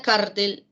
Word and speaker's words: cártel: En la palabra cártel, la fuerza de voz, la intensidad recae en la antepenúltima sílaba, ¿ya?